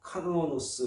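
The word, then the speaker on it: κανόνος: 헬란말로 카노노스 이렇게 발음을 합니다.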